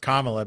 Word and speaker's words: Kamala: I know it's pronounced Kamala, but you could have Kamala Palooza too.